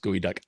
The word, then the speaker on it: geoduck: spelled geoduck but it's apparently the word is pronounced gooey duck heard the same thing it is they're delicious